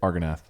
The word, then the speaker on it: Argonath: Argonath.